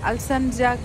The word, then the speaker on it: Alsancak: Alsancak word has C A K in the spelling. but in turkey C is pronounced as J, so Alsancak.